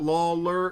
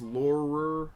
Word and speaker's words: Laurer: joni laurer laurer lol it's not lawler it's laurer chyna i don't know